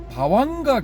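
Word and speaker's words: bhavaṅga: 그 버하바하고 이제 안가라는 거요 두 개를 합친 건데 그 버바를 빨리 발음하면 바와 이렇게 되거든요. 그럼 안가가 붙으니까 바왕가 뭐 이렇게 되는 거죠.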